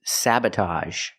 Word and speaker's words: sabotage: Same sound with a ge. A. A. Sabotage. The first syllable is the short a like black cat. Sa. Sabah. The second syllable is relaxed. Uh- uh. Saba. Sabotage.